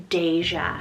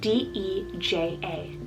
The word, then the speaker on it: Deja: love, and I love the name Deja, spelled D-E-J-A. Deja.